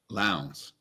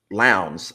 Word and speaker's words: Lowndes: Lowndes. Lowndes.